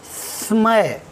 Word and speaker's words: स्मय: ना, हम सीटी बजाते समय अंदर की वायु को बाहर प्रेस करते हैं इस प्रकार से। तो आप इसी प्रकार का उच्चारण करेंगे स्टार्टिंग में, तो आधा सा निकलेगा आपका। स्मय, इस प्रकार से, ठीक है।